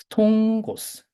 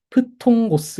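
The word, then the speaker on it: φθόγγος: 그래서 프통고스 이렇게 발음을 하실 수도 있지만 더 정확히 하면은 통, 통, 통, 이로 합니다. 그냥 하고 통을 할 때 숨을 강하게 내뱉으면 통고스 이렇게 됩니다.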